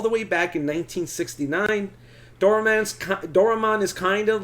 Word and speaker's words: Doraemon: Doraemon.